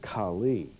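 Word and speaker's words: Kale: For example, the word Chaldees in the Ur of the Chaldees, Chaldees in the modern dialect in Turkey is K-A-L-E, pronounced Kali or Kali.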